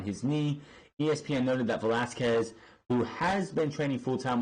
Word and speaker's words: Velasquez: Cain Velasquez, which I've heard people saying Velasquez, and it's like, that's not how you pronounce his name. It's Velasquez. Velasquez. Get it fucking right.